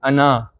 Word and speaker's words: أنا: like this circle on ana. This circle means that this alif should not be pronounced but only getting written. So it is as if hamza and then noon, na. This is the right pronunciation.